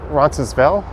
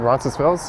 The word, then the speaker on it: Roncesvalles: over to roncesville's avenue you might hear some people call it roncesvell they won't pronounce the s i don't think there